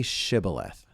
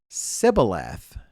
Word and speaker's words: Shibboleth: And if he said no, they would say to him, then say Shibboleth. And he would say Sibboleth, not Shibboleth, for he could not pronounce it right.